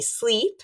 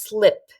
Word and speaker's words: slip: It's not sleep, it's not dormir, because that would be sleep like this. It's slip. So we want to keep our mouth very small to pronounce this correctly, which I do hear